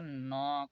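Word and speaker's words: knock: के न यहां पर एन से पहले के आया है इसलिए यहां पर के साइलेंट है य इसे पढ़ा जाएगा नॉक एन स के नॉक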